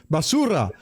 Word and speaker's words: basura: truly would say down here in Texas basura basara I think I should have chose no you said it right you said it right that's Spanish for trash those are Spanish word for the day basura tell your friend they're trash and they won't